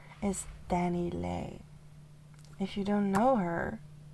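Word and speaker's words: DaniLeigh: Danny Lei. Her real name is Danny L, but you spell it as D A N I L E I G H.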